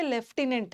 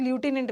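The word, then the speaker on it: lieutenant: और लेफ्टिन, इसको हम लिखते तो ल्यूटिनेंट है बट पढ़ते लेफ्टिनेंट है, बट अभी इसका लेफ्टिनेंट बोलते हैं, बट इसका फिर से प्रोनाउंसिएशन कुछ लोग ल्यूटिनेंट भी करते हैं, ओके।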